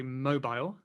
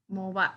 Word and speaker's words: mobile: Next one I'd say mobile. Okay, and I said mobile. Actually, mobile. And I have mobile. Interesting. I've heard many Americans say mobile, like my, you say cell phone, but like mobile phone, for example? Yeah, actually, some people do say mobile.